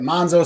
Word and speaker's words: Manzo: my Italian friend Victor Manzo because we said the pre-show well how do we say your name is it Manzo Manzo he says if you're Italian you say it monzo so if I say